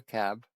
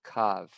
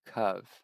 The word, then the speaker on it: cab: It's written in Hebrew as and it gives us the Hebrew letters and pronounced simply as cav. Rhymes with dove in English. So let's see. CV cov. Interesting. So cov not cab.